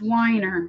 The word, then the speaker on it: Weiner: It's pronounced winer, but the comments you he survived by his wife Dixie Normous.